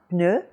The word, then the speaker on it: pneu: up in front of your mouth again now, pneu, I think you'll find that the puff of air has practically gone away, or at least gotten a whole lot less, so that saying pneu correctly will take you down the road toward a good pronunciation of the initial French P.